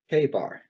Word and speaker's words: Chebar: Chebar. C-H-E-B-A-R. Chebar. River Chebar. He's back down near Chebar with his people he was taken into captivity with.